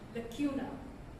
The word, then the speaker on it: lacuna: The correct pronunciation of lacuna is, like I said, lacuna.